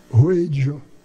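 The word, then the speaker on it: Wheydja: Ela disse, Ruedja. Eu disse, como é que se escreve?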